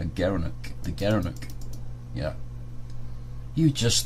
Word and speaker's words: gerenuk: gara gara knew gerenuk he pronounced as a gerenuk the gerenuk yeah you